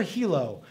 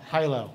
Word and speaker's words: Hilo: it pronounced Hyo or Hilo you know like the city in Hawaii like there's a city in Hawaii named Hilo it's like yeah it's like okay no high low high and low and I push check